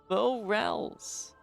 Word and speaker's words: Morels: It's like morals, except morels. You know, just a little... fancy pronunciation on that end.